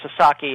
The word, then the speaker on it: Sasaki: who cross these sexual boundaries and uh Joseph Sasaki and I should uh make it clear it's it's pronounced Sasaki and uh Americans and Canadians uh sometimes have